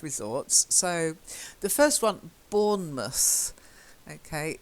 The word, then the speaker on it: Bournemouth: So the first one, Bournemouth. Okay, we don't say mouse, we tend to say mus.